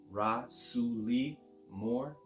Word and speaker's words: Rasouli Moore: My name is Rasouli Moore. You pronounce that Rasouli Moore.